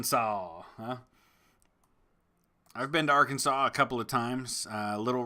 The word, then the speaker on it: Arkansas: names of course we have Kansas and then we have Arkansas which is basically spelled with like it should be Arkansas but yeah that's how